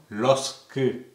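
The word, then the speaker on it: lorsque: அடுத்தது பாருங்க, லோர்து மாதிரியே இதை உச்சரிப்போம் லொஸ்கு என்று சொல்லி உச்சரிக்கிறோம். அப்போ இதில் பாருங்க, இதில் எஸ்ஸை உச்சரிக்கிறோம்.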